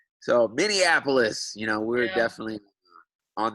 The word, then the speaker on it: Minneapolis: Hopefully people will stop calling us Mindianapolis and pronouncing the name wrong. So Minneapolis, you know, we're definitely on the map now, so to speak.